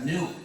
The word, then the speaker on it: gnu: muchísimos de palabras porque según el diccionario la g es muda y la palabra se pronuncia nu como nuevo.